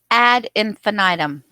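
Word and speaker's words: ad infinitum: to say that word add infinitum according to Google the proper way to say that is ADD infinitum which means again and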